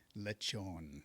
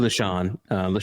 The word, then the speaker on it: Lechon: Lechon.